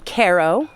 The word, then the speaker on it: Cairo: So we're in Ko, which is spelled like Cairo, exit 21 off the throughway.